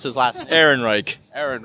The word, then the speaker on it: Ehrenreich: I can see this Alden how do you pronounce his last Ehrenreich Aaron right Alden Ehrenreich yeah like I'm not sure if I can